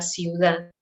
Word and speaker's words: ciudad: la vida en la ciudad. So again, here I have two vowels, I, U, so I have to pronounce them both, ciudad.